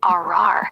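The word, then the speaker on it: ארר: In biblical Hebrew, ara, arar, pronounced arar, is the verb to curse or to invoke a curse.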